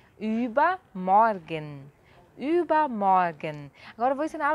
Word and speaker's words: Übermorgen: Übermorgen. Übermorgen. Então o ultramado tem som de ü, você faz no biquinho e fala i. E o er tem som de a. Übermorgen.